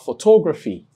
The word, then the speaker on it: photography: You have photography. Now you have the last syllable, that's the ultimate. Then you have second to the last syllable, that's the penultimate syllable. And here is the third to the last syllable. So you place the stress before it.